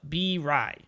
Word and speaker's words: Birai: I think it was B-Ray. Was it B-Ray? No, B-Rai.